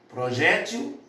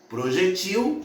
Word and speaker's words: projétil: Porque elas podem ser pronunciadas ou como paroxítonas ou como oxítonas.